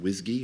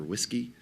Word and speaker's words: WSGI: server Gateway interface uh it's usually pronounced whsy or whiskey uh and the way